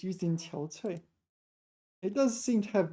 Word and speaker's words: 憔悴: So here it's pronounced qiao cui.